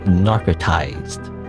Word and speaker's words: Narcortize: that's it for uh how you pronounce it like on the store Page said you to pronounce it narcotized I think I guess the r is silent I don't know um